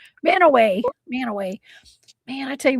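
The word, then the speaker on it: Mantua: I lived in uh Man, how do you pronounce that again? Manua. Manay. Manowway.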